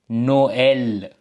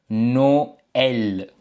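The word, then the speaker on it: Noël: அப்ப இதை நாங்கள் வாசிக்கும் பொழுது பார்த்தீங்கன்னா இதை நாங்கள் நோ எல் என்று வாசிப்போம் நோ எல் ஓகே கிறிஸ்மஸ் வந்து நோ எல் என்று வாசிப்போம் ஓகே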